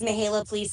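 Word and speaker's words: Mihaela Plesa: sure you can, Vice Chair of this group, Mihaela Plaza. Am I close, Mihaela? Thank you so much. Is that close to pronunciation? Yes, you did very well. Thank you. Good morning, everybody. My name is Mihaela Plisa, and I proudly serve as the Vice Chair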